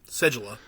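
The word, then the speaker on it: Seguleh: That's how you pronounce it, right? Segula? Segula, actually.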